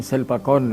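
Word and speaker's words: ศิลปากร: उसका नाम है वो शिल्पा करर विश्वविद्यालय वहां पर थाई उच्चारण में शिल्पा कोर्न विश्वविद्यालय तो शिल्पा कोर्न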